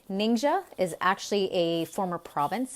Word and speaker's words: Ningxia: is ningxia red and how do you say it ninja is actually a former